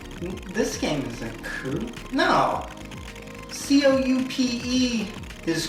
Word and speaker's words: Coup: C-O-U-P-E is coupe, I know for a car, but C-O-U-P, that has to be coupe, right? Huh. Coup. The P is silent?